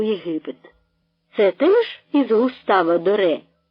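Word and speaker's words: Gustave Doré: з дитям утікають у Єгипет це теж із густавадоре - спитав він цілком правильно вимовляючи ім'я Великого митця то ви що він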